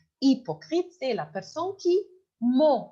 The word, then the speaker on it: hypocrite: youf Ahmed Margerite et hypocrite d'accord mais ne dit pas il n'y a pas de he alors hypocrite mais ça commence par H mais on prononce pas le h alors hyocrite hypocrite c'est la personne qui